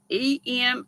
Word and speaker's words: Eminem: that out with the Eminem why ain't that how you say it that's what it looks like Eminem e-m-i-n-e-m Eminem said the same way as Eminem yeah Golden Girls oh